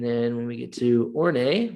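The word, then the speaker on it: Horney: when we get to ornay which is how you say that word or nay um emphasize the role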